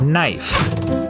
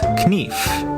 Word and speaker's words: knife: A good example of this change is in the word "knife". In Middle English, it was pronounced "k-nife", but after the vowel shift, the K became silent and the E turned to the diphthong "I".